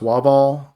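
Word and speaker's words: WAVAW: stream uh for uh i think it's pronounced wah ball uh w-a-v-a-w um that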